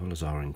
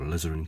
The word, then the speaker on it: alizarin: strong color as well so Nizar in crimson or alizarin crimson whichever way you want to pronounce it to create a nice